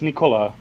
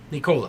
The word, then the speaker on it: Nikola: okay she's just nicola so you do say the knee right it's nicola nicola yeah yeah nicole